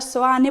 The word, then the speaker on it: Seoane: co nome da vila, chamada Seoane (pronunciada Soane pola maioría dos veciños), que vén do sintagma latino SANCTU IOHANNE, en referencia a san Xoán o Bautista.